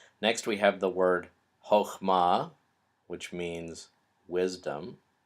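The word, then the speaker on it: חכמה: And you'll notice that that first syllable is a closed, unaccented syllable. So in this case, the little T-shaped vowel, which is almost always pronounced ah, is pronounced o. So it's chokhmah.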